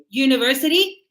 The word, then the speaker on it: university: University. But we said that university. U you. Can I hear it like a? No. I hear it like you as in a Y.